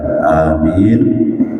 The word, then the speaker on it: amin: Jadi apa namanya mengucapkan lafal ucapan amin itu dengan memanjakan huruf A yang pertama dan min yang terpakai.